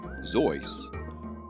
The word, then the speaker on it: Seuss: even the lorax dr seuss originally pronounced zoice was born theodore ted seuss